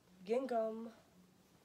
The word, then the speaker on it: gingham: So then when you put it on top, gingham. Is that how you say it? Gingham. Gingham. You don't say the second G, just gingham.